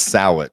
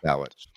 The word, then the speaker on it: Sitch: It's Sitch. So, it's like South and Witch. It's not easy. Sitch.